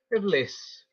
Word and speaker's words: Iblis: So the thing is, according to the Quran, the name of Satan is Iblis. Yes. Um, some people just pronounce it bliss because there's different Arabic pronunciations, balis, and that's where the name polis came from also.